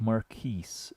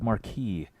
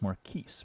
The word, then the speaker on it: Maris: VI unlaid and swallow pronounced like Maris okay okay good Maris okay okay at first glance it was like Marquee and because the the text on the chat is really small for me but I didn't want to say Marquee but it's Maris because the S is not silent okay very good apologize